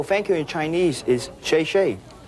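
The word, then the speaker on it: 谢谢: Oh, thank you in Chinese is shay.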